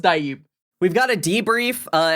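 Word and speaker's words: DHIB: But it's pronounced Dib.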